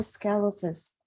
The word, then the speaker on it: sclerosis: sclerosis sclerosis okay okay you did you're missing the owl part that's why okay all right multiple it's multiple sclerosis multiple sclerosis yes sclerosis I have to have the I I need to hear the L okay sclerosis yeah sclerosis